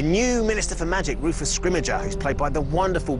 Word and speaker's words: Scrimgeour: We have kind of eventually reached consensus on how to say his name, and we're going with Scrimmager.